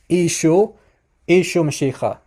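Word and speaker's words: ܝܫܘܥ ܡܫܝܚܐ: the eastern dialect so you hear the name of jesus being pronounced as isho mashicha okay now um now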